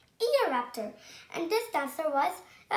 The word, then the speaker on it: Eoraptor: I'm going to tell you how to pronounce it. Eoraptor. Eoraptor.